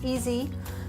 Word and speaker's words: EASI: In English, that spells EASI, which we can pronounce easy.